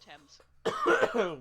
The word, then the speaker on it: Thames: It's pronounced Thames.